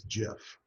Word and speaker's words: GIF: of the originals was Jeff yes it is pronounced like the peanut butter just like that animal